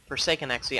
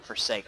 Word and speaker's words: ForsakeNXE: So, for those of you who don't know, ForsakeNXE, I'm going to mess that up a bunch. In the last cast of him, I called him Forsake, but it is pronounced Forsaken.